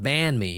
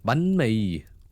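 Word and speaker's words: bánh mì: I still remember when you mentioned the correct way to say bunme. It's not banme, it's bunme.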